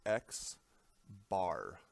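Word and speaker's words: x̄: one this is pronounced X bar because it's an X with a bar over the top of it and then what is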